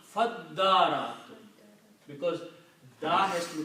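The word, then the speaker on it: فَادَّارَأْتُمْ: when you read this thing together, you skip the sound of this alif and you combine fa with the dal. So you will pronounce Faddaratum because da has to be pronounced da.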